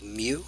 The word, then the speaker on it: mu: the letter in the Greek alphabet is called Mew it's that's I guess how we spell it it's written like this it looks like